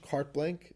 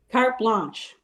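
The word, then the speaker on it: carte blanche: say it in English cart blank is that how you say it is that how you pronounce it cart blanch or blank it's a blanch cart blanch cart blanch I should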